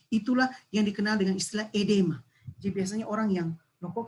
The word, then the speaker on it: oedema: Edema, ya, tulisannya oedema, bacanya edema, di mana itu tadi terjadi penumpukan cairan yang tissue fluid ini di kita penjaringan.